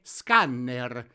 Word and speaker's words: scanner: Quindi mi raccomando, la pronuncia italiana deve essere scanner. Ricordatevi di fare sentire bene la doppia N.